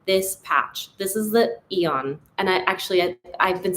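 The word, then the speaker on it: Aeon: Apparently it might be AON. So I'm sorry if I've been saying it wrong, but forgive me. I'm still going to say Eon.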